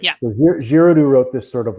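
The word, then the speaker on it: Giraudoux: source material for this is french right yeah girodu wrote this sort of like fantastical you know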